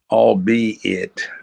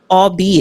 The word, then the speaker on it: albeit: How do you pronounce that? Orbit. Orbit. Orbit. Important. it all be it albeit all albeit important procedural issue and